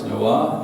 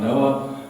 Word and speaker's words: Noah: So when you say it like Noah, it's Noah, not Noah, and it's kind of neat. But I learned that in Hebrew.